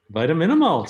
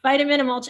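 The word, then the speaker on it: Vitamin-Amulch: a short film that i always have trouble pronouncing vitamin a mulch vitamin malt spectacular that's right i got it vitamin and mulch air spectacular and dan was a leading story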